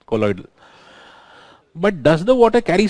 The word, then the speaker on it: colloidal: I think I pronounced it wrong. Colloidal is what we call it, right? I'm so extremely sorry for that wrong pronunciation. Colloidal.